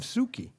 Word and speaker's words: Sookie: And great pronunciation of Sookie, by the way. Sookie.